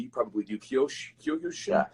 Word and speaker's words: Kyokushin: how to say it correctly, you probably do, Kyokushin? Yeah, Kyokushin.